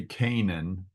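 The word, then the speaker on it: Canaan: of Canan and uh here again in English we say Canan uh but it is a na an so you you there are three A's in this word and you pronounce all three of them okay uh the sons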